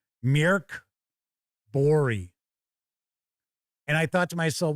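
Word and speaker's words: Mörk Borg: So this person is like, why don't you just learn how to pronounce this? It's pronounced, what was it? Murigbori? Something like that. They actually put the, kind of the pronunciation there. And I think that was how it came across. Mirk Bori.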